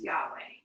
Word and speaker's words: Yahweh: As we Christians spell and pronounce it, the word is Yahweh.